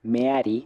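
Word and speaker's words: メアリー: sé cómo se dice, del nombre Mary, es Meari, así y encima porque tiene el guioncito este en realidad es como doble, ¿no? O un poquito estiradita la última sílaba.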